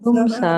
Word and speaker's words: puṁsaḥ: viṣayān Puṁsaḥ. Viṣayān puṁsaḥ. Not puṁsaḥ. Puṁsaḥ. Okay, don't have A and H for breakfast.